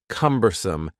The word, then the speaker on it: cumbersome: The word cumbersome has 3 syllables, and the stress is on the first syllable, cumbersome, cumbersome.